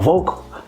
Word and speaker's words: Vokal: I'm like, I mean, we might as well put the K in there, because when I do go to home in Haiti, the K is still pronounced. You can even pronounce it vocal or vocal, and it's still. But if we put it with a C, it's almost like you have to say vocal because of the language or whatnot.